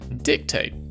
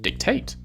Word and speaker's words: dictate: In America, dictate. In Britain, dictate.